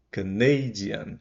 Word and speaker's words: Canadian: com o zio forte quando eu venho para Canada can primeiro é forte no país mas se for paraa nacionalidade canadian é o Nei que fica forte e não mais a primeira sílaba tá bom isso vai